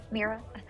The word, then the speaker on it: Mira: Mira. I was just It's wondering if there like was any way it's like mirror, but to.